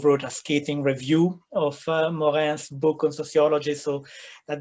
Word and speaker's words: Morin: How do you spell that? M-O-R-I-N. Morin.